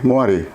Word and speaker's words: moiré: de frequência de tela escreve moiré né Eu não sei se essa pronúncia não não entendo e francês mas se lê moar pelo menos comumente no